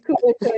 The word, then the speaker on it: couverture: It's couverture, yes. You pronounced it well.